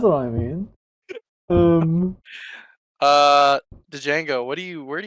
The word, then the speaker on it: Django: to it um uh next right move the Django Django the D is stent I need a